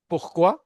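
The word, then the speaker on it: pourquoi: सा अधा प्रोनंसिएट करें क्वांद देन कम्स वाई पुख्वा यह क्वांद होता है व्हाई व्हेन और पुख्वा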